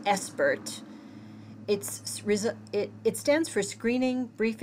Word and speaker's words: SBIRT: You might be familiar with this term that has emerged from the addiction field in recent years called pronounced ESPERT.